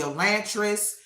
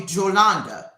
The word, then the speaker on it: Yolanda: I getting called Yolanda, Yolantress, all kinds of my Hispanic, Mexican, all of them Dominican friends, they uh call me Jolanda with a J.